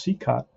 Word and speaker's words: Cicotte: it is he strikes out big strikeout for c-cop tough name to pronounce if you just look at straight up how it's uh how it's um spelled right but it's pronounced c cut and um that's two outs first and second